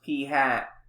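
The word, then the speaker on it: p̂: a sample we use the notation p hat pronounced p hat to stand for the sample proportion a parameter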